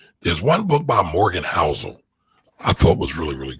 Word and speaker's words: Housel: that um i thought morgan morgan houses book was one of the better books that i've read in quite some time uh and i'm spelling his name wrong his name is morgan housel i'm his name wrong